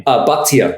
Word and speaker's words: Bachtia: Bachtia. Bachtia. Without the H.